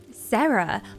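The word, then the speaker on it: Sera: Sarah, but her name is spelled S E R A cuz she's she's cool and edgy.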